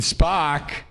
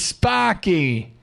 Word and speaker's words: Sparky: That's how uh all the people in Boston call that's how they pronounce my name. It's Sparky. Spock. What's up, Spocks? Sparky. Sparky. Sparky. That's what That's what the Boston's That's how Boston pronounces me. It's Sparky.